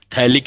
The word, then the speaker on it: थैलिक: थैलिक एनहाइड, पथैलिक नहीं बोलेंगे बेटा, पी साइलेंट होता है, जैसे निमोनिया को पनोनिया नहीं बोलते, पी साइलेंट है, वैसे ये भी थैलिक एनहाइड्राइड है, पी साइलेंट रखना है बेटा।